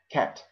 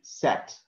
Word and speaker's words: cat: for example you say cat cat okay after c you have a that's why you pronounce it like cat you have not to say sat no you have to say cat and the second one